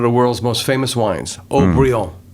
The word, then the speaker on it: Haut-Brion: Case in point, one of the world's most famous wines, Haut-Brion, right? I'm not much of a wine drinker. Well, it's a very, very famous label. Sure. And it's actually the French pronunciation of O'Brien.